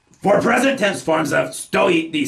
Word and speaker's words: стоит: Remembering to stress the second syllable of the word for stand that we get, on stoit na sypachkach.